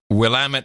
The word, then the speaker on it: Willamette: up right just always order wine from the Willamette Valley because that's how you pronounce it lamb it yep well am it